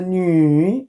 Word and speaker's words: 女: Let's pronounce the 女, third tone.